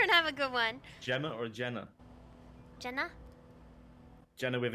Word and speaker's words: Gemma: understand the English dictionary g-e-m-m-a is pronounced Gemma Anna mayor but we're